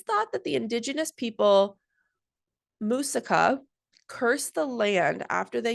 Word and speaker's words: Muisca: And I even wrote it out phonetically, and I still can't get it. Muisca? Muisca? Muisca. Yeah, Muisca.